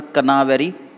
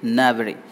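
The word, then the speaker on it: knavery: याद रखिएगा साउंड के साइलेंट है, इट्स नॉट अ कनावेरी, इट इज नैवरी.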